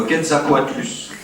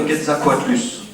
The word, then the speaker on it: Quetzalcoatlus: mon paléo-quiz, hein, le Quetzalcoatlus. Non ? Qui connaît le Quetzalcoatlus ? Ça s'écrit comme ça se prononce.